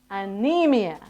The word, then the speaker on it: anemia: Okay, I say, you say, anemia. Anemia. Anemia. Anemia. So you might look at it and think it's anemia, but no, we say anemia.